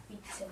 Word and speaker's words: 위층: 발음할 때 그냥 어떻게 돼요? 위층. 위층 이렇게 되죠. 위층 이렇게 됩니다. 중요한게 얘는 된 소리 대기가 이루어지지 않아요.